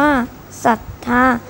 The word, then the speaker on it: ศรัทธา: รู้ ด้วย คำ ว่า มี ศรัทธา อ่าน ว่า ศรัทธา หมาย ถึง ชื่อ เรื่อง ใส่ ตัว อย่าง เขา